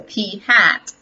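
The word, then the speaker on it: p̂: on top of it we will do pronounce this actually as hat so P hat stands for the sample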